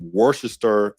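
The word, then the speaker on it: Worcester: very very different life ivonne's from Worchester England yes that's the right way to say that and she's responsible for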